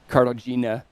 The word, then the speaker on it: Katarzyna: We're working on our pronunciation today. Yeah, Martin is like- helping me there. Again, having the right Polish friends is Katarzyna, apparently.